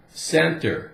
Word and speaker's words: center: rule C + or we could say if C is followed by if C is followed by D I or the letter Y then it sounds like s for example the word Center C e e sentences